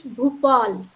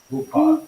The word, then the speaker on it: Bhupal: Singh, how do you pronounce the name of your university? My university's name, it is Bhupal. Bhupal.